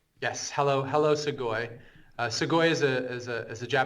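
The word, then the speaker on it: Sugoi: So how in the world did you end up at how do you pronounce it? Sugi. Siggoy. Sugoy. Yes. Hello. Hello. Segoy.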